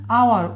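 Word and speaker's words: hour: এখানে দেখুন আওয়ার, ও থেকে উচ্চারণ হচ্ছে তাহলে এন হচ্ছে।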